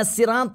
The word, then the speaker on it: الصراط: تعرف تنطق حرف الصاد وتخلطه مع حرف السين هيك يقراوا اهدنا الصراط المستقيم الصراط يا اخي مو اص اص اهدنا الصراط المستقيم صراطه في فرق بين الاص والاس وحرف الباء في ناس